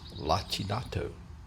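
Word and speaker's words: lacinato: The kale is also pronounced lachinato.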